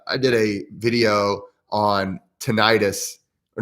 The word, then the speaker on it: tinnitus: one up that and i was pronouncing it teniatus and somebody made fun of me and he made some